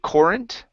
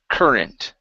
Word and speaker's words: current: the word current okay you would said corrent okay so instead of an or sound it's ER current current good a global